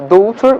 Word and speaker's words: daughter: in english for example the word daughter is pronounced a daughter with gh but it's not spelled in and